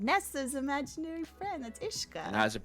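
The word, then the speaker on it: uisce: no what's her name nessa's imaginary friend that's ishka how's it pronounced there you go and that you know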